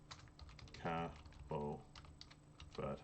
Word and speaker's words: Cabo Verde: So location, Cabo Verde, pronounced Cabo Verde, as it looks basically.